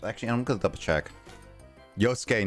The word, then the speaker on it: Yosuke: Yosuke, not Yusuke, by the way, says Justin.